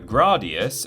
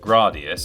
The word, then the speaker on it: Gradius: the 1986 home port of the arcade game gradius which before the comments go wild is actually pronounced gradius and not gradius according to the japanese title